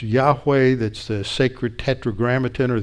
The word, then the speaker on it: Yahweh: name of God means this name that is pronounced Yahweh that's the sacred Tetragrammaton or the sake is